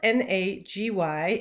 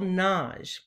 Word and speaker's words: Nagy: It's spelled N-A-G-Y and often people say Nagy. I pronounce it the Hungarian way, which is with a single syllable, Naj.